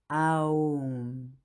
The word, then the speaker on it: Om: Le son Om, c'est le son universel, absolu, que l'on prononce aussi Aum.